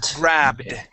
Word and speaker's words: grabbed: Now we want to pronounce a D sound here. You're producing a small T, saying grabbed. Okay, grabbed. We want a D sound.